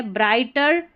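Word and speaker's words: brighter: ब्राई टी R turn जी एच यहां पर साइलेंट है ब्राइटर टू मोरो double R ओ डब्ल्यू रो टू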